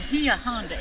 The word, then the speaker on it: Bahia Honda: or three beaches at the gia honda is how you're really supposed to pronounce they can say whatever